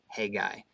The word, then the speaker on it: Haggai: was going on and Haggai and actually it's hey guy I'm like hey guy that's how you pronounce it apparently in the Hebrew hey guy historical setting